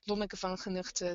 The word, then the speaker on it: Lonneke Van Genugten: And I must say that Claudia really knows how to speak Dutch, because it's pronounced Lonneke Van Genugten.